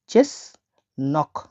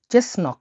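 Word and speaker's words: чеснок: কিভাবে ডাকা হয় দেখুন রসুনকে রাসায়নে ডাকা হয় চেস নক চেস নক হিসেবে চেস নক আমি ভেঙে দিচ্ছি দেখুন এই ওয়ার্ডটাকে এই উচ্চারণ হয় সি এইচ বা চ হিসেবে ঠিক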